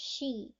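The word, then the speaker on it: 死: let me explain that for is pronounced she and death is also pronounced she so they link the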